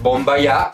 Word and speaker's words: BOOMBAYAH: ellas para reaccionar y es bomba ya sí se pronuncia así y playing with fire